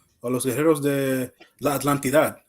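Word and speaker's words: Atlántida: Oh, Los Guerreros de la Atlantidad. Oh, it's just Atlantida.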